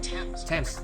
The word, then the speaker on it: Thames: spelled with a TH, they are pronounced as if they were spelled with a normal T. T. Like that. And these words are Thomas, Thomas, Thompson, Thompson, Teresa, Thailand, Thames, Esther, Esther, and Time,